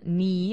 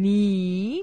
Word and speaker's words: knee: Yeah, knee also starts with the letter K. So you say one knee, two knees, one knuckle, two knuckles.